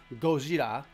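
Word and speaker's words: ゴジラ: to the director to pronounce the Godzilla sound in Japanese as Gojira.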